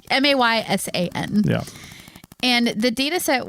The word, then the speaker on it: Maysan: Oh, Paul's listening to this going, that is not how you pronounce that. No, it's not how you pronounce it. I'm so sorry, Paul. Probably Mason. Mason? Okay. Yeah. Maysan.